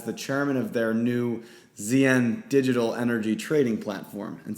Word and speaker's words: ZYEN: this via the podcast, they sound the same, but ZN Energy is spelled Z-I-Y-E-N, ZN Energy. And they're actually launching an issuance platform called ZN, Z-Y-E-N. So sounds the same, but they are spelled and styled differently.